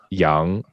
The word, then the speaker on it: Yang: pronunciation in mandarin it's young so it's more oh it's more of a u sound yeah it's i actually